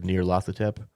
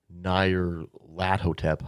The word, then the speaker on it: Nyarlathotep: release I think one is called Masks of Nyarlathotep or Nyarlathotep, I think is what because they have their